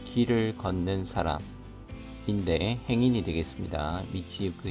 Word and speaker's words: 道行く: 미치유크 히토 미치이크라고도 발음이 됩니다. 이크 또는 유크 미치유크 히토노 길을 걷는 사람 행인의 스가다와 모습은 마바라 하면은 드문드문함이라는 뜻입니다.